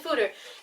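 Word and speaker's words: foeder: spelled F OED er and I pronounce it food or does that Oh Bridger it's Peter and the google it no it's definitely footer and fooder are the barrels that are used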